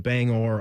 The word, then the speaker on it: Bangor: Like if you're going on up to to Maine, if you want to go to Bangor or Bang Bangor, I believe you got to pronounce the G.